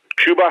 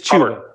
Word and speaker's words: Chuba: Hey, by the way, just quickly, the running back for Oklahoma State, how do you say his name? Cuba Howard. It is Chuba.